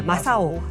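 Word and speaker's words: 正男: 일본어로 그 김정남의 정남을 바르 발음을 하면 마사오거든요. 아, 정남이 예. 마사오. 예. 마사오라고 하는데 그래도 그 뒤로부터는 마사오 숨은 팬클럽 대박이다.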